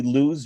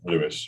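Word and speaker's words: Lewes: the rail line to am i pronouncing correctly lose or louis lewis yeah lewis yeah louis which we'll talk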